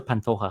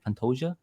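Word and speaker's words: Pantoja: How do you say Pantoia early on in his career they would say Pantoa and then out of nowhere people started saying Pantoia. So what is it? Yeah Pantoa Pantoa taking on Kai Carrance.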